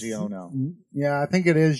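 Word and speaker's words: Xiono: Kazuda Shiono. Yeah. That's how it's pronounced.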